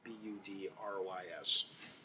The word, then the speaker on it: Budrys: I don't think I've actually ever heard anyone pronounce his name. It's Budrys.